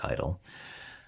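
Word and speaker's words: (G)I-DLE: I love where here the name of the group is Idol and soyan has stated in interviews that that's that's how the group's name should be known and pronounced as Idol now definitively and also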